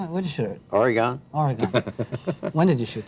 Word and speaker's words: Oregon: Farms isn't that funny you said Oregon that's U that means you came from another state but California why well let not pronounced Oregon it's true we call Oregon Oregon Oregon I'm sorry about that